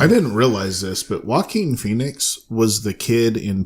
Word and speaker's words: Joaquin: boy is it it's Joaquin Phoenix he what my different name back fence before I which - Joaquin but okay he's an amazing things one is walking know your I know I always say it wrong yeah okay walk him